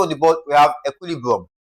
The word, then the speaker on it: equilibrium: So, the stress pattern or the formula for stressing this guy is to stress the second to the last syllable again. Okay? So, for this particular word, equilibrium, we're still going to stress the what now?